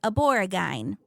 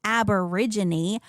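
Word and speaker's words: Aborigine: And Australian native people, I pronounced the word aboreagine because it is spelled ab r i g i n e.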